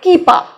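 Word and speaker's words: kipper: যুক্ত হচ্ছে ইডি তারপরে কিপা দেখুন লাস্টের আটটা কিন্তু আমি উচ্চারণ করলাম না একটু সাইলেন্ট রাখার চেষ্টা করলাম কিপা র বললাম না কিপা কিপা মানে শ্যামন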